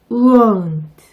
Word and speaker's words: won't: open, boat, won't, show, coat, go. 이 중에서 won't의 발음이 조금 어려우실 텐데요. 이 발음은 모음이 3개 들어가 있다고 생각하시면 쉽게 해결됩니다. 우, 오, 우.